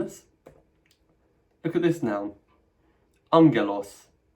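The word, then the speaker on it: ἄγγελος: In all cases, the first gamma is pronounced at the back of your mouth as an ng sound. Let's do some pronunciation practice, having learned this. Look at this noun. Angelos, angelos, angelos, meaning messenger.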